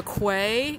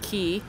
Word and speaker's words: Quay: to call it the Quay QA y but British people pronounce it key and there's like a